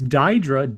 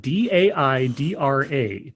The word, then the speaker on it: Daidra: It's Daidra, D-A-I-D-R-A, Daidra, the train station.